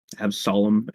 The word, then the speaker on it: Absolum: Absolum. They said it's absolute without the TE, so Absolum.